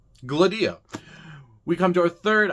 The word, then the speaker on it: Gladia: Gladia, it is on the second syllable, the D.